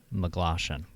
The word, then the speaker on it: Maglashan: Now, you've also got to tell me how to properly pronounce Maglashan.